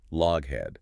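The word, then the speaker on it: Loughead: It's spelled L O U G H E A D, which everyone in the 1920s pronounced log head, which is just unfortunate.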